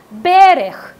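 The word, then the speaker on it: בֶּרֶךְ: Y la palabra bendición proviene de la palabra hebrea que se pronuncia berech, que significa, ¿quién recuerda qué?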